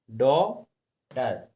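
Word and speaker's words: daughter: देखो इसमें भी DAUGHTR, तो ए यू दिया है, तो हमने डॉटर। ऐसी देखो इसमें नो टी, ए यू है, तो इसलिए हमने इसको नो पढ़ा। और फिर टी, GH इसमें साइलेंट है।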